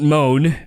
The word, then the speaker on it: Mone: title of the podcast don't moan spelled m o n e which is Michelle Mo's surname spelled like that been in the news